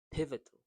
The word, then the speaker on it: pivotal: So to say this pivotal the word stress is in the first sound pivotal.